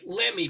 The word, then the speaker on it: Lemme: Laughing also with us is Lemme. By the way, am I pronouncing that right? Is it? Yes, Lemme? Rabbi, you are.